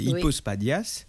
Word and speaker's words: hypospadias: il sujet alors son gué ça s'appelle me prononcer Bien hypospadas, c'est ça ? C'est exactement ça. C'est hypospadias.